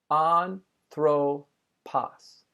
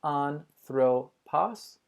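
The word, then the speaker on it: ἄνθρωπος: that makes you nervous the first word is on purpose on throw pause you can see how i pronounced it with three syllables on throw pause and you also know that I put the emphasis at the beginning of the word on throw poss finally you'll also hear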